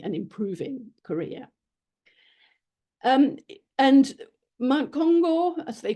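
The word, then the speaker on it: 金剛: And Mount Kongo, as they called it, Mount Kŭmgang, Kongo is the Japanese pronunciation of the same characters, was central to this project.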